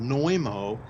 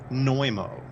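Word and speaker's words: Znojmo: Republic that's incredible also it's called noimo and I'll spell it for you because it's kind of got an unusual spelling you spell it Z and O J as in Jacob m o neumo and the catacombs supposedly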